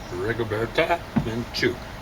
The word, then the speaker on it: Rigoberta Menchú: Let's see what Mark Stein says about Rigoberta Menchú. And I remembered it. There was accent on the second syllable.